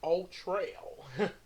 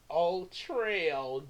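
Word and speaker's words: Ul-Trel: His original name is Ultrail. Ultrail. Get that? Got to see what I did there? Ultra Cat, Ultrail, but it's spelled UL hyphen TREL, but sounds like Ultra a little bit.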